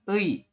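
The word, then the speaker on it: ㅢ: Yang terakhir ini dibacanya ei ya. Ada e ditambah dengan i, maka dibacanya ei.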